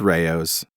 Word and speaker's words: Rao's: Rao's yes that's right I was called the task for not pronouncing it correctly its Rao's not Rao's not Rao's okay all